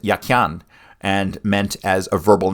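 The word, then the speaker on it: Jachin: The word yakin is Hebrew. It was probably pronounced yakyan and meant as a verbal noun.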